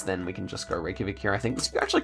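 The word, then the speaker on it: Reykjavík: her we yeah yeah Reykjavik is how you pronounce it so okay next one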